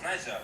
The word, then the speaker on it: Niger: It's Niger. Niger, yeah. I don't actually think you pronounce the I to use it.